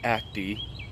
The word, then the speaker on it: Acty: act the attack so it's pronounced attack and it's pronounced Act II sure for activities you